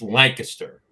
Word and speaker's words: Lancaster: I'll be heading out to Lancaster, Pennsylvania for. Excuse me. Well, you did it again. I did it again. Well, I did it for everybody's benefit because most people call it that. It's Lancaster.